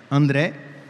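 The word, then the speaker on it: Andrea: O seu pai, André, né, que se pronuncia em italiano, né? André.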